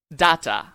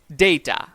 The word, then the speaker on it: data: Example 5, কথা বলার সময় এই উচ্চারণটা আমরা করে থাকি ডাটা, কিন্তু এটা ভুল উচ্চারণ। সঠিক উচ্চারণ হবে data.